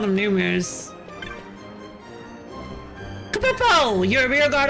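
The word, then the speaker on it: Nu Mou: It's spelled like n u m o, but it's numu.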